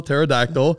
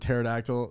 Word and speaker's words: pterodactyl: try to spell it everybody starts with a T and first of all there's a p in it there's also a